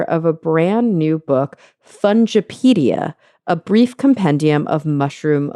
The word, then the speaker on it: Fungipedia: this word really differently um I'm gonna say fungipedia a brief compendium of mushroom lore do you say fungipedia hit the na you hit the nail on